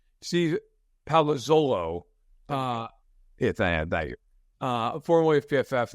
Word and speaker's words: Palazzolo: I mean, right now, Steve Parolazzo, that's a bad job by me. I'm Italian. I should know how to pronounce his name. Steve Palazzolo, thank you.